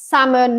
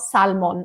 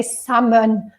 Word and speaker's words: salmon: like salmon and it's salmon not Salman ok salmon we don't pronounce the L tuna so tuna tuna